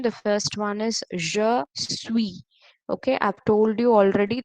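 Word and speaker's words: je suis: the first one is je sui okay i've told you already the last letter is silent so here the s is silent so this is pronounced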